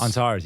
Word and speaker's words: Antares: Antares? Antares, yeah.